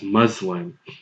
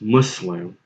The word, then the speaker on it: Muslim: say Americans in general, you guys pronounce this word as Muslim. Now, I personally interchangeably use both pronunciations. I say Muslim, and there are times when I say Muslim myself. But if you're interested in how you actually say this word, it's Muslim.